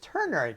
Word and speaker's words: ternary: itinerary operators are ternary i keep pronouncing it correctly it's ternary get it right it's ternary operators are